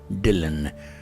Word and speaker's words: Dillon: and my surname or my family name is dylan d as in david i l l o